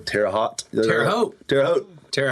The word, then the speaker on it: Terre Haute: And the next week, we got asked to play a festival in, I don't know how to pronounce the town. It's somewhere in Indiana. It's Terre Haute.